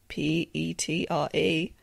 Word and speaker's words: Petre: I did also realise fairly recently that I pronounced her name wrong, because I assumed her name is spelt, or her surname, Petre, is spelt P-E-T-R-E. So I thought, oh, she's Canadian, it's probably like French Canadian, but it's not. It's her English husband's name. And it's just pronounced Petre, but, you know.